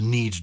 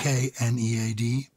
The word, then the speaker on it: knead: And we wouldn't have pronounced it exactly like that in Old English, but we would have pronounced the K.